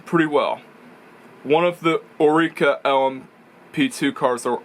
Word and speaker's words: Oreca: One of the Oreca LMP2 cars, or Oreca if some people like to pronounce it, had an engine failure reminiscent of Denny Hamlin at Infineon.